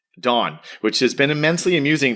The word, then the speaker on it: Dan: Don spells his name D an A N, but it's pronounced D O N. Dawn, which has been immensely amusing to everyone I've